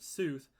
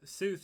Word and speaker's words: sooth: So somehow I don't even remember how I came across the word sooth. It's spelled Soth with like a line over the O. It's like a sooth. You've heard of like soothsayer.